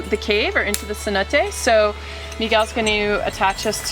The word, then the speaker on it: cenote: Well, here in Yucatan Peninsula, the caves are called more cenotes, coming from the Mayan language actually, but pronounced it's actually sonot, which means sacred door, sacred entrance.